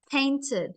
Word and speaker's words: painted: example paint it became painted so what happened with the sounds paint it Pain t so it became like that the sound the E you pronounce it because it became Ted you pronounce you you